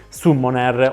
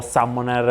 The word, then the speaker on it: Summoner: parliamo della adatta xpg su bonnaire o summoner a seconda che vogliono adottare una pronuncia italiana oppure inglese a seconda delle vostre preferenze una tastiera che vi